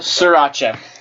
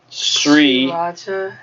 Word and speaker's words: Sriracha: But you're telling me all the R's are silent, and why are they there? Damn. S-R-I Sriracha. R-A-C-H-A. Racha.